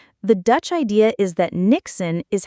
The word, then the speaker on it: niksen: It comes from Dutch culture and it's called niksen. Niksen? How do you even spell that?